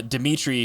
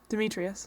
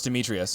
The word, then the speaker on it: Demetrius: and we have uh dimitri who also loves her loves her mia there's one more syllable in that name dimitri us demetrius oh it's demetrius dmitry is greek not